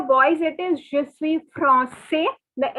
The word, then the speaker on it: français: So for boys it is je suis français. The S is not to be pronounced. But for girls, since there is an extra E, the S is to be pronounced.